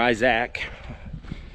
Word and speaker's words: Isaac: Isaac, or Isaac, that's how it's pronounced in Australia, apparently.